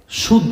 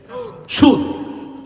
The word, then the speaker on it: সুদ: চা একটা পান ঐক্য বুঝছেন না এটা কি সুদ সুদ সুদ মানে হলো আপনি যা দিয়েছেন তার কোন অতিরিক্ত নেওয়া যাবে না কিছু গ্রহণ করাই হলো সুদ এটা শব্দটা মূলত ফারেসি ফারসি না উচ্চারণটা ফারেসি সিন ওয়াও দাল মূল উচ্চারণ হলো